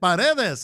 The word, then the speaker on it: Paredes: Paredes is how you say it.